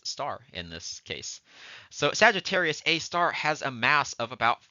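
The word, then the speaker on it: Sagittarius A*: hole which we call Sagittarius A star we actually say Sagittarius a star that that uh asterisk is pronounced as star in this case so Sagittarius A star has a mass of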